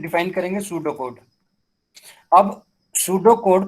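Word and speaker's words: pseudocode: अब सूडो code pronounce as ए सूडो code, ठीक है, is another way of representing an algorithm.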